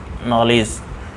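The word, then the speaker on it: knowledge: जा होता है तो इसको पढेंगे नो लेस नॉलेज इसी तरीके से यहां पर भी पीस आयरलैंड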